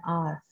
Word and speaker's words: hour: For example, I will be there in an hour. जहाँ जैसे कि आप देख रहे हैं in hour मीन्स यहाँ पर h जो है वो साइलेंट है और हम जो प्रोनाउंस कर रहे हैं वो आर।